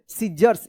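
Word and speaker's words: scissors: double S ओ आर एस सीजर्स क्या पढ़ेंगे सीजर्स यहां पे सी साइलेंट रहेगा देखिए यहां पे माय थंब हर्ट्स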